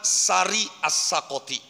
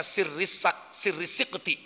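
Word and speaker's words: Sari al-Saqati: wali agung arani Imam Sari As-Sakoti. Kalau di Cirebon khususnya kebanyakan bacanya Sirri Sikti. Kalau saya baca di kitab Sari As-Sakoti, nama lengkap beliau adalah Sariyuddin As-Sakoti. Sari kagoni waznan wa maknan.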